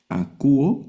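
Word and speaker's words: ἀκούω: Este ditongo solo suena como u. A cuo. Y la omega que es la la última letra del alfabeto. Aquí suena la omega. acúo, que es oigo o escucho del verbo oír.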